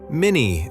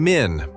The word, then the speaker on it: Min: Oh, yes, that's right, Minnie. I mean, Min, my bad.